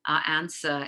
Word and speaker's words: answer: And the spelling with a silent W continue to occur in spelling, even though it's not pronounced. So to, sword, etc., answer, etc.